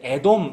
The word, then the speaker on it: 에돔: 아까 에서가 애도 밉니다 1 에돔 그렇게 한번 발음해 보세요 애도 어미 라고 하면 에돔 에도 마애 2마 나중에 그